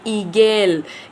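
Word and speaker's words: Igel: आई को हम कैसे पढ़ते हैं? ई। कैसे पढ़ते हैं? ई। तो अब हम इसको कैसे वर्ड में प्रोनाउंस करेंगे? ईगेल। ईगेल। ऐसे हम इसको प्रोनाउंस करेंगे।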